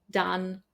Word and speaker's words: done: For example, words like come, done, some, money, honey, mother, brother, oven, these are all pronounced with the sound A, not the O that you see in the writing.